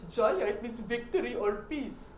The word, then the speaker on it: Jaya: It's Jaya, it means victory or peace.